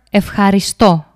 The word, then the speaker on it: ευχαριστώ: Let's see a word and define the name of its syllables. We have the verb ευχαριστώ.